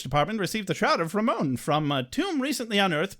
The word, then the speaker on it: Rahmon: h m o n chicken or beef oh Ramon that's how they pronounce it but it is